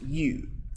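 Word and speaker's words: ewe: someone hey you it's pronounced you okay it's just spelled e-w-e okay a young female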